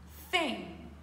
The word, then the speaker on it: thing: on dit une chose avec le TH dur thing c'est une bonne chose